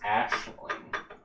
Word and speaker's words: Aisling: Most common pronunciation is it says Ashling.